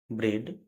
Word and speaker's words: bread: के या ST हो, तो ई ए का उच्चारण ए होगा, जैसे BREAD, ब्रेड।